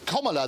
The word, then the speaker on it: Kamala: It's Kamala, La is how you pronounce it. As in communist.